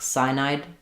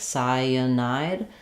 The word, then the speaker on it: cyanide: you leave that out, you're going to end up with something that sounds more like cyanide, 2 syllables. And to make sure you have all 3 syllables, cyanide, that vowel to vowel linking is key.